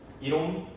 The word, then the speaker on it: 옴: 오메가가 아니죠. 어 이럴 때는 오메가가 아니라옴이라고 읽으시면 돼. 오 1옴 2옴 100옴 뭐 이렇게 단위로서 붙여 주시면 되겠습니다.